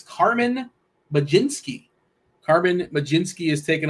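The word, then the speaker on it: Mlodzinski: taking on the Ray I did go to the pronunciation guide because uh I probably would not have got there staring at his name but maj jinsky we're going with Cho I feel free to go you know you can straight off the board if you want but that is technically the correct pronunciation um what of the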